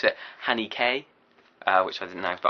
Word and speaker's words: Haneke: that I now know that you're supposed to pronounce it Hanny k which I didn't know but I'm still gonna call him Haneke he's not going to know the movie or